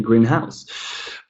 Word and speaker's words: greenhouse: I live in a greenhouse. But we grow tomatoes in our greenhouse. Greenhouse. So when these two are put together and become a compound noun, then we put the stress on the first syllable.